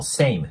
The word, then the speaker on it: same: ますで次の same なんですけどこれもね same ムって伸ばすんじゃなくて say ていうね二重分になるので same same